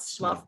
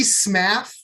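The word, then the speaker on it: Smough: To me, the correct way is Smuff. Now, well, see, I could see Smaff just because it's spelled like laugh, just with an SM at the beginning. No, it's an O.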